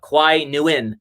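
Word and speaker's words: Qui Nguyen: uh kwai knew in and that's how you pronounce it it's not nagayan everybody it's uh kwai nu in it's like new win new win it's not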